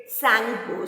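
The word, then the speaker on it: Tsangpo: Here T is silent, so we will pronounce it Sangpo.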